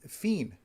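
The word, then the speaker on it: fin: That is, Fiend, right? Fiend. Like at the end of a French film.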